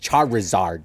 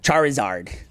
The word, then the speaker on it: Charizard: even pronounced just how you said it, just Charizard. Charizard. Well, it's because there's Charmeleon. There's Charmander. Just let it, Charizard. just let it flow right out of you, Bernie, okay?